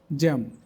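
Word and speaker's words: jamb: আরো কিছু ওয়ার্ড দেখব জ্যাম রম থাম নাম লেম ক্লাইম সাকাম ক্যাটাকম প্রত্যেকটি এমবি আছে কিন্তু এর পরে কোন ভাল নাই এজন্য বি উচ্চারিত হয় না এবার অর্থ দেখি জ্যাম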